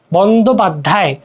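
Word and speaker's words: বন্দ্যোপাধ্যায়: এই যে দেখো বন্দোপাধ্যায় বন্দোপাধ্যায় জফলা জফলার কিন্তু এখানে উচ্চারণ হচ্ছে না দেখ বন্দোপাধ্যায় বন্দোপাধ্যায় যখন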